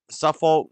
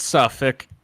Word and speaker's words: Suffolk: Suffolk, New Folk, Suffolk, the Suffolk, right?